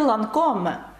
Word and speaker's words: Lancôme: Марка косметики «Lancôme». «Е» наприкінці не читається, і у «Lancôme» є також дуже відомий парфюм «Idole».